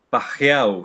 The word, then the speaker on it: Pageau: e es un canadiense, eh, Jonathan Pajeau se escribe Pageau, eh, que lo entrevistó